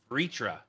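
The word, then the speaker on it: Vritra: most dangerous is and I'm going to use the Final Fantasy 14 pronunciation here is vitra um so again we're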